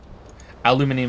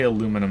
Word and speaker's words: aluminium: player is still on rolling empty aluminium is how they say it in the uk by the way and i'm guessing europe they say aluminum over here you see bottles in